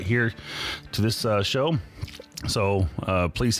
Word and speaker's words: Neere: It's Here with an H, and I have to tell people it's like John Deere tractors, which works great here in Western Pennsylvania.